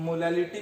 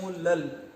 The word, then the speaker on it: molal: अब प्रोनाउंसिएशन उसका होता है मोलल। क्या होता है बेटा, मोलल। कैपिटल m को हम किसे बोलते हैं, मोलर बोलते हैं, और स्मॉल m को हम क्या बोलेंगे, मोलल बोलेंगे। ठीक है, मैं लिख देता हूं मोलल।